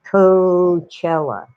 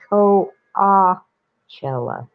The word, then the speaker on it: Coachella: because they're lazy they just call it co cella but that's another spanish word it's ko ah chella or coachella but not coachella i will it's become standard now it's coachella uh jeez i knew i